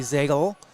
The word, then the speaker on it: Ziegle: the night is uh ellie ziegle rhymes with bagel yes one for two